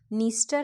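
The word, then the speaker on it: Dniester: है Danube don नाइप नाइप है पर आगे डी लगा हुआ है निस्टर है पर आगे डी लगा हुआ है ठीक है मतलब डी साइलेंट है तो डेन्यूब डॉन नाइप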